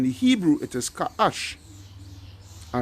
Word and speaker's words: Cush: All right, so Cush. All right? Although it's spelled a bit different in the article, all right, which is they put K in the scriptures here is C, but it's really Ka'ash. In the Hebrew, it is Ka'ash.